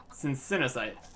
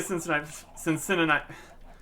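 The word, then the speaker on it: Cincinnasite: I think it's pronounced Cincinnaite, with sin as in burnt to cinders. Just in other words, sin and cinder. Really fits in there, right? Cincinnaite, not Cincinnati.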